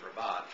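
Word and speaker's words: rabat: put a ribot on some places you may have to call it a rabbit because they may not know that the correct pronunciation of raat is rabot but this collar actually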